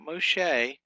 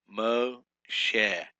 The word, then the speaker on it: Moshe: Number 24 is Moshe, not Moshe, Moshe.